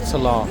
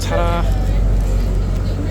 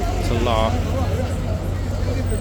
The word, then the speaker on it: Talar: This is Talar, this horse that we're looking at now. Who I, to be honest, always referred to as Tara. Pretty much spelled the same way, with an L. Talar.